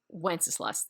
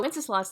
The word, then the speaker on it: Wenceslas: And there's debate on how to pronounce Wenceslas, but we're just going to stick with Wenceslas. That's how it's spelled.